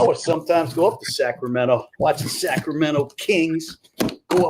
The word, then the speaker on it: Sacramento: Which is worse, somebody calling it Cal State, Sacramento, or pronouncing the T in Sacramento?